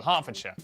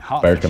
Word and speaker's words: Hertfordshire: Norwich, Berwick, Southwark, ER is pronounced R. Berkshire, Clerkenwell, Hertfordshire.